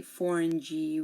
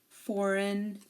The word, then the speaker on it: foreign: here um you know it's also usually silent um if GN is at the end of a word like campaign design foreign R and sign so here the g is silent we don't pronounce the G we don't say the G we don't say forign G we don't say sign G campaign design forign Ry and sign okay take a good look